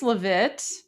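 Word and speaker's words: Leavitt: This is recent um, press secretary uh, how do you pron Levet? Yes, Levet. She did I pronounce her name right? Goldie Levette. I think I think it's Levit.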